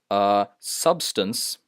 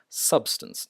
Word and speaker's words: substance: Substance. See, I stress sub and then just casually add stance. Substance, not substance.